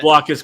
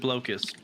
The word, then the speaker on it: Blokus: And I will fight anyone who pronounces it blokus.